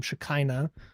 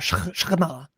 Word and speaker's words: Shekinah: of God, dwelling in his Shekinah or Shekinah. So I always get made fun of by Jews whenever I say Shekinah, even though it's the proper English pronunciation.